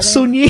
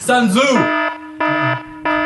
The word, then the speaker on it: Sun Tzu: Man, my niece mispronounced. Oh. I was like, what's his rap name? What's Bone's rap name? Sun Yi. It's like, no, that's Woody Allen's daughter. Oh, no. Problematic. Sun Tzu.